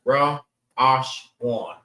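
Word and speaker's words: ראשון: Think this. Ra'ash. Ash. One. 3 different sounds. Ra, Ash, one.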